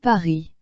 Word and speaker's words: Paris: S is not pronounced. It is not pronounced as Paris. It is pronounced as Paris. Again, if you would like to listen. Paris.